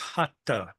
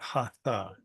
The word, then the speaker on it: Hatha: Which is not to say that doing Hatha yoga, it's pronounced Hatha, by the way, not Hatha.